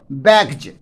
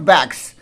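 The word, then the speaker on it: bags: यहां पर एस को हम लोग ज पढ़ते हैं, ठीक है, बैग्ज, नॉट बैग्स। अगर कोई बैग्स पढ़ रहा है तो वह गलत उच्चारण हुआ।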